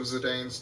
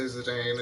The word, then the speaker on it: Zidane: like little flicks of Zidane's tail that weren't in there. I say Zidane, it's Zidane.